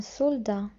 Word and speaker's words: soldat: جندي un soldat un soldat un soldat. Le T à la fin ne se prononce pas.